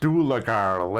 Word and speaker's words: Dooley girl: It's pronounced doolagarl, and it's from Australia.